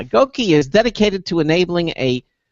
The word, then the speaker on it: GOQii: again um I believe the company's pronounced gouki uh that's gki all right we got validation yeah gouki is dedicated to enabling